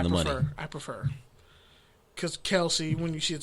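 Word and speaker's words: Kelce: saying travis and jason kelsey's last name wrong but technically no yeah everybody thought it was kelsey it's pronounced kels what the [ __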